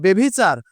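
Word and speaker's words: ব্যভিচার: আর যদি আমি দেখি বয়জ ফলার পর হ্রস্বইকার এবং দীর্ঘইকার আছে, তাহলে ওই হ্রস্বইকার দীর্ঘইকার থাকার কারণে বয়জ ফলা এটা হয়ে যাবে বে, অর্থাৎ বয়জ ফলা একার হয়ে যাবে। একার নিয়ে উচ্চারণ করতে হবে।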